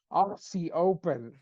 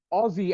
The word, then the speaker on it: Aussie: I'm listening to the American commentators they're like RC open and I was just like Aussie as in but I get it it's exactly